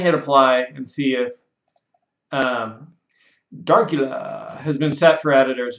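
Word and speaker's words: Darcula: But if you say Darkula, you got to say it like your Count Dracula, Darkula.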